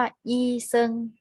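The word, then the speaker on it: 医生: เป็น อาชีพ นะ คะ คำ นี้ ออก เสียง ว่า อี เซิง อี เซิง แปล ว่า หมอ หรือ ว่า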